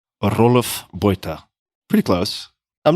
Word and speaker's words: Roelof Botha: My parents would call me Roelof Botha. Roelof Botha.